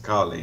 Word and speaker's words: Colleen: I don't know if it's Colleen or Colleen. It's Colleen. I said it's Colleen.